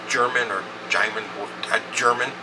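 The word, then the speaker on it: Jermyn: the Tor Rob Bond Street I called it Jeremy it looks like it's Jeremy Gary over Gary shave said no it's pronounced German or gam German like German I'm like how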